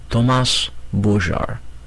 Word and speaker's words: Thomas Bogart: He pronounced it for her in the French way. Thomas Bogart.